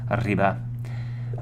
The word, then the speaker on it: arriba: Roll your R's, trill your R's. Remember, arroz, arriba.